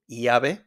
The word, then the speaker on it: llave: We got the double L in Spanish, don't pronounce it like an L. Normal sound is Y, like yellow, yes, llave, llave, me llamo, llueve, llueve.